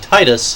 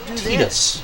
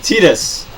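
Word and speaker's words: Tidus: knew how his name was supposed to be pronounced you and I of course like most people called him Titus Titus but which makes sense because that's how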